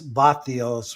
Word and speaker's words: vatios: And so I finally just changed my, and what I'd introduce myself to people as vatios, which is how you say watts in Spanish, like electricity, vatios.